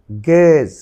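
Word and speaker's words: guess: গেজ, গেজ। Your উচ্চারণ বলা হয় গুয়েজ হয়, কিন্তু সেটি নয়, গুয়েজ না হবে গেজ।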